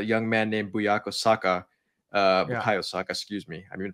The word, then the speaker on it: Bukayo Saka: Bukayo Saka, excuse me. I've been pronouncing his name wrong after that boredom.